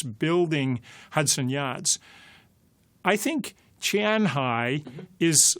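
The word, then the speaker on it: 前海: It's Qian, Qianhai. I thought it was Shanghai, but it's Qianhai.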